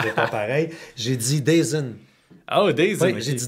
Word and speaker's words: DAZN: s'abonner à DAZN.